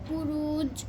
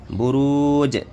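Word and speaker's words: بروج: এই বুরুজ শব্দটা লাস্টে জিম, এটা কি হবে? এটা কিসের হরফ? কলকলা হরফ। তাহলে এটা কি কলকলা উচ্চারণ করো? বুরুজ। বুরুজ। বুরুজ। হ্যাঁ, ঠিক আছে।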